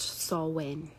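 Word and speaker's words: Samhain: festival called s Wayne it's spelled s m h a i n but it's pronounced saw win okay um this was H what is saw win okay so this is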